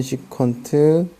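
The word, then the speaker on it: secant: CSC, SEC, COT 이렇게 나오는데 CSC는 코시컨트라고 읽어요. CSC라고 읽지 않아요. SEC는 시컨트, COT는 코탄젠트 이렇게 옵니다. 그래서 코시컨트, 시컨트, 코탄젠트라고 읽어요.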